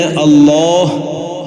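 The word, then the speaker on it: الله: മറിച്ച് ലാം ഉച്ചരിക്കുന്ന മഹ്റജ് ഏതോ ലാമിന്റെ മഹ്റജ് നാം നേരത്തെ പറഞ്ഞു അതേ മഹ്റജിൽ തന്നെ അള്ളാഹ് എന്നതും ഉച്ചരിക്കണം അതാണ് യഥാർത്ഥ ഉച്ചാരണ രൂപം എപ്പോഴും നമുക്ക് ആവശ്യമുള്ളതാണ് ലാ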